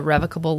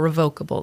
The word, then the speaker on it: revocable: So what I would recommend is what we call a revocable living trust or revocable living trust. Can be pronounced either way. It's the same thing.